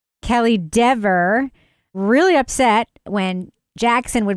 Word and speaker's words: Dever: Kelly Dever. Not Deaver. Kelly Dever. Really upset when Jackson would mispronounce her name, even though I guarantee she